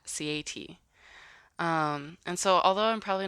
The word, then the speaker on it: Sieaety: So, for example, if I took the word cat, I would pronounce it C-A-T by saying the names of the letters. And that's how the name Sieaety came about, from the word cat, Sieaety.